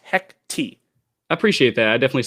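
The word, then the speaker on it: Hecate: in the Marvel universe at this point, because Hecti. That is how it is pronounced. Pronounced Hecti.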